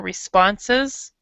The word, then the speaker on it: responses: when you see this you see the S and then e s not pronounce the last part so it's basically being swallowed so you read you